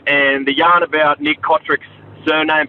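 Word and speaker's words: Cotric: friend of ours, and they did change pronunciation of his name to Chotrich. But, yeah, he's always said that he's never told him to pronounce it Chotrich. Apparently it's just to make them sound a little bit more multicultural and all that. So it's always been Kotrick.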